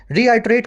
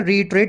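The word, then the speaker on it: reiterate: रीआइट्रेट करना भी बोलते हैं, रीइट्रेट बोलते हैं, रीआइट्रेट बोलते हैं, दोनों इसके जो है प्रोनाउंसिएशंस हैं।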